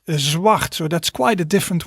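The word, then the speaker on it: zwart: black and the color black in dutch is zwacht zwacht so that's quite a different word than in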